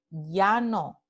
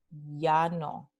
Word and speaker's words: llano: También las letras doble L, como en llano, representan este mismo fonema ya, llano, ¿ok?